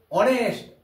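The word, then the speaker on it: honest: অনেস্ট, এইচের উচ্চারণটা কিন্তু হচ্ছে না, উচ্চারণটা শুরু হচ্ছে কোথায়? এখান থেকে। অনারেবল ম্যান, আমরা হনারেবল বলি না, আমরা হনেস্ট বলি না, আমরা হাওয়ার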